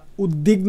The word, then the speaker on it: উদ্বিগ্ন: উদ্বিগ্ন, এটাকে আমরা উদ্বিগ্ন হিসাবেও উচ্চারণ করতে পারি, কারণ দয়ের যে বফলা সেটি ওয়ার মতো উচ্চারণ হয়।